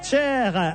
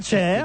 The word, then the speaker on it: Cher: Elle est au Zénith ce soir, Cher, avec quand même 200 concerts d'adieu. Vous marrez pas quand je prononce Cher? C'est pas Cher, c'est cher.